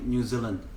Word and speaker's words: New Zealand: New Zealand.